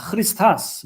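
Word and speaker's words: Χριστός: 크리스토스. 크리스토스. 크라고 발음하지 않죠? 야, 흐 이런 발음을 하죠? 예, 크리스타스 뭐 이렇게 됩니다.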